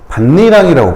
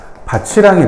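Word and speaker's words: 밭이랑: 반니랑이라고 발음하잖아. 왜 반니랑이라고 발음하냐면 이거 연음을 해버리고 구개음화를 적용하면 바치랑이 된다고 했지.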